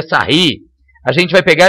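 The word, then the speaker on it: Sarrus: de terceira ordem é regra de sarros né pronúncia correta seria sair a gente vai pegar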